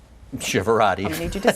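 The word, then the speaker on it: Chiavero: the best way which is my last name shivera I need you to spell that it's c h i a v as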